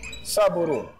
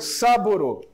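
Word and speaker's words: Sabouraud: micologia, chamado de agar saburo. Ah, esse mesmo, tá? O agar saboro. O agar saboro, Saborhaud, aí se escreve, tá?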